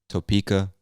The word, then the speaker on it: Topeka: is topeka topeka now maybe some people say topeka i've never heard it pronounced that way but um anyway just know that i would say topeka kansas all right next state